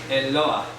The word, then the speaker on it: Eloah: Eloah. Se pronuncia así. Eloah.